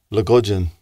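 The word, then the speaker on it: logosen: The word for mouse is Lugudgeon. Lugudgeon. Lugudgeon. Lugudgeon. Yeah, per there. Okay, you better pronounce it a couple of times.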